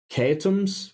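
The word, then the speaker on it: Keoghtom's: work this out uh it's called kums which is spelled k e o I hope somebody's writing this down k e o g h t m apostrophe s kones ointment this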